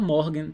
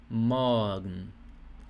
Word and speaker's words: morgen: R está antes de consoante, né? Então, R aqui tem som de A. Então não é morgen. Se você fala morgen, tá errado. Jamais fale morgen. Então é morgen.